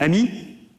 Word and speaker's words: AMI: We pronounce it AMI, which means friend in French.